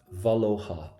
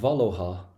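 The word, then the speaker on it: bhaileofá: I know it's a little bit weird, but we don't pronounce the F. Oh. Oh. Valha. So Valohha.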